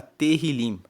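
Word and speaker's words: Tehilim: Tanto que no hebraico, que é o texto original da Bíblia, o livro de Salmos se chama Terilim. Se escreve T E H I L I M e Terilim quer dizer louvores.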